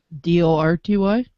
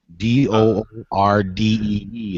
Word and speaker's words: Doherty: Not even close. Dorty? Not even close. Doordee is how it's pronounced.